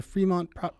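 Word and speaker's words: Frémont: Can you tell us a bit about the Fremont Proclamation and what that meant here?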